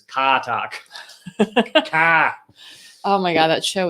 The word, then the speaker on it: Car Talk: or you appreciated the car talk also frank now i really want some chips it's actually i'm not so i'm not pronouncing it right i'm saying car talk it's katak oh my god that